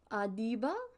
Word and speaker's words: Adiba: this person's name because I don't want to mispronounce it one moment adiba adiba that's how I figured it was pronounced